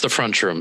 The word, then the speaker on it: The Front Room: Yes, it is pronounced The Front Room. So it is the way that the front room sounds when you have a South Side accent.